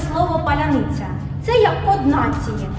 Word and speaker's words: паляниця: це приходь Ми тебе навчимо кожен українець може вимовити слово паляниця це як коднації А Наші учні які навчаються